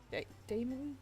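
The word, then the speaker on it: daemon: I've seen it pronounced demon but I could also pronounce it Damon Damon as in the name but I'm basing that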